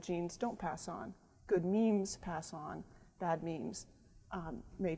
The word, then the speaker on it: memes: Memetics is about memes, and it's spelled M-E-M-E, and it rhymes with gene on purpose because it's an idea